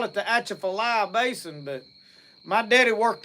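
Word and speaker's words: Atchafalaya: No, the shephilia is the way that's pronounced. The shephilia basin down there cuz you watch swamp people and they'll call it the achafalia basin.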